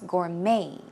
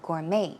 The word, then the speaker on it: gourmet: Gourmet Chef as well in that case a t is silent it's Gourmet Gourmet as an m a